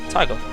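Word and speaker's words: Taiga: at all it's tiger man that's it was it's spelled on the wiki t a i g a tiger I can say it it's amazing anyway uh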